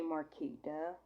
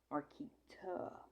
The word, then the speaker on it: Marquita: name the way this I say Marita like with a DA but it's not said like that my name is said with a TA Marita I never I don't